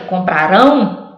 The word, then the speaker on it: comprarão: Lembra que comprarão era o rão, agora é compraram, o pra é forte.